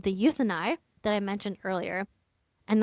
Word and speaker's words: Euthynai: All right, let's circle back to what we teased earlier, the mandatory financial audit called the Euthyni that I mentioned earlier. And that's spelled EUTHYNAI.